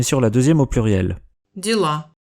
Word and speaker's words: дела: Дела. Vous avez peut-être remarqué que le O de Diela ressemble pas mal à un A.